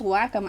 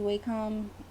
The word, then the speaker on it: Wacom: I've always said Wacom, and I'm going to continue to say Wacom. Wacom just sounds like whack-a-mole or something.